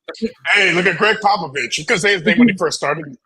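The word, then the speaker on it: Popovich: how to pronounce it hey look at Greg papovich because when he first started know about him pop a don't pop a pop of it what yeah so the top three teams at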